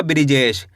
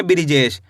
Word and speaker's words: बृजेश: तो मिलके बन जाएगा बृजेश। कैसे पढ़ेंगे? बृजेश। आया समझ में? एक बार फिर से देखिए। ब में ऋ की मात्रा ब्री। ज में ए की मात्रा जे श। तो मिलके बन जाएगा बृजेश।